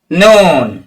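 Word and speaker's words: نون: সোজাসুজি তুলে দেন হ্যাঁ নুন নুন নুন এভাবে উচ্চারণ করবেন জীবের আগা তার বরাবর উপরে তালুর সাথে লাগিয়ে উচ্চারণ হবে নুন এভাবে উচ্চারণ করবেন ওকে এরপরে দেখুন 10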